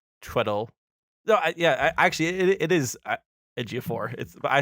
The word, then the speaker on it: Ejiofor: No, actually, it is Ejiofor.